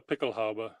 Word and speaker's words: Pickelhaube: Is that how they pronounce Pickelhaube.